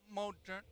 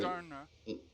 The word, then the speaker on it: Moderna: I know I'm saying the name wrong. Modena. Whatever. Moderna.